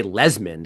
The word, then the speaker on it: Lesmond: And he actually said, "You can just say Lesmond." And that's how it's spelled. L E S M O N D.